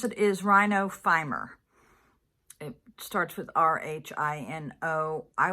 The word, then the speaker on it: rhinophyma: Okay, how to pronounce it is Rhinophyma.